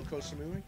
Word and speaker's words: Koh Samui: four kosamui wait a minute how do you spell that k-o-s-a-m-u-i cosamoon I need some help um Michael do you know Koh Samui that doesn't sound like that's gonna be somewhere